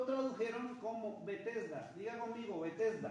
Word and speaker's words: Betesda: queda y lo tradujeron como betesda diga conmigo betesda betesda bet betesda betesda betesda traduce a nuestro idioma